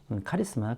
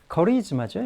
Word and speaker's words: charisma: 그래서 액센트가 여기 오기 때문에 이걸 캐라고 읽으면 안 되고 커리즈마라고 읽어야 되죠.